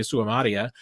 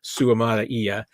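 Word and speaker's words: Suamataia: I get my Ozark accent every once in a while, and I start dropping that that kind of in the middle syllable. I need to start slowing down when I say Suamata Ia.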